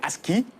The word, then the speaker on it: ASCII: Donc, je vais un peu revenir sur le mot, c'est ASCII.